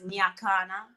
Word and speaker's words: Nyakana: The pronunciation is Nyakana.